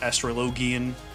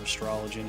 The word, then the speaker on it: Astrologian: Like Astrologian or Astrologian as most people pronounce it.